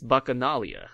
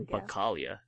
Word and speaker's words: Bacchanalia: Yeah, it's bacchanalia, I think. Oh. Not bacchalia.